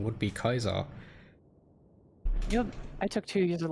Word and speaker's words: Caesar: sadly pitiful it's kizar if you actually pronounce it in latin it's kaizar not caesar i'm just saying something